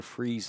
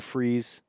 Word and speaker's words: Fries: To be completely transparent with you, I've always called him Victor Freeze, Freeze, and I've always thought the Fries was spelled Fries but translated as Freeze, maybe just Freeze.